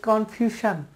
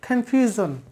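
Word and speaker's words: confusion: এর পরে আই থাকলে, এসের পরে আই থাকলে এই এসের উচ্চারণ হবে জ, জ, তাহলে হচ্ছে জন, কনফিউজন।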